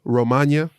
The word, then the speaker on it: Romagna: We'll talk about a little bit of news today, and we'll get into the Emilia Romagna. You got to say it like lasagna.